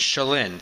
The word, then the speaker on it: Shalin: Shalin. The accent Shalin. Is on the first syllable.